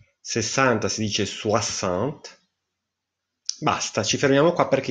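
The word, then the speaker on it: soixante: Caravan 50 si dice sencon 60 si dice suassant Basta ci fermiamo qua perché invece quelli del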